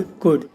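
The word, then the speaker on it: could: शुड, वुड, कुड, इन सब में भी एल साइलेंट है।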